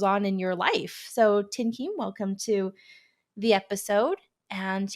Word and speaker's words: Thien-Kim: here and it's actually fun to hear you actually to say my name tim keem in vietnamese instead of the version i give everyone else um so i'm a